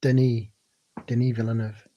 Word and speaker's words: Denis Villeneuve: Oh, by the way, it's pronounced Denis Villeneuve.